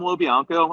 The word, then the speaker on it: LoBianco: Tom LoBianco. I'll spell it.